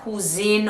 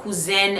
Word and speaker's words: Kouzen: Now, his wife is said to be Loi Clementine, or his female counterpart KOUZEN or cousin, it depends on how you want to pronounce it, but KOUZEN is actually the masculine version of cousin.